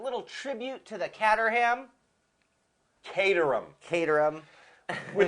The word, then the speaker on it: Caterham: name it it and to all of you out there that think it's Caterham it's not all my life I thought so and it kind of looks like it and then I started really thinking about the spelling c a t spells Kate yes uh so we tuned